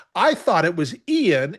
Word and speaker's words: Ian: You know, his name is spelled I A N. I thought it was Ian.